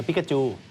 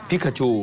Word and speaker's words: ปิกาจู: ละคร ใน โปเกมอน เอ พิกาจู พิกาจู ใช่ พิกาจู นะ ออก เสียง วรรณยุก ให้ ถูก นะ ฮะ พิคาชู ใช่ เดี๋ยว จะ ออก กลาย เป็น อะไร ครับ เดี๋ยว จะ ออก กลาย เป็น อะไร ครับ ปิกาจู อ๋อ เป็น ปิกาจู อ